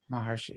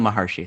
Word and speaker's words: Maharshi: say his last name Maharishi Ramana maharshi sorry whatever yeah you know